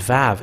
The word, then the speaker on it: Vav: And this Vav, it is pronounced as V. But it's people who change it into U and U.